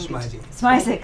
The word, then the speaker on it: Smizick: Representative Smizick, I've been teaching Smizick, sorry. That's right. I see your name all over town for years. Okay, you arrived late. I should have written rhymes with Isaac.